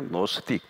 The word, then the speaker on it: 노스틱: 노스틱, 발음을 하면 노스틱이에요.